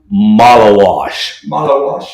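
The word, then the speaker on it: Maluach: Malawash. Like you're washing your.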